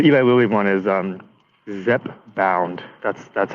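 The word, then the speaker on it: Zepbound: oh so the Eli LLY one is um Zep bound that's that's how you pronounce it um but uh yeah it just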